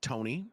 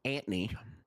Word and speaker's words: Antony: full name either, but his name was not Tony. It was not Anthony. It was Antony. Antony. That's not a joke. It was Antony. Yeah, that is how you say it.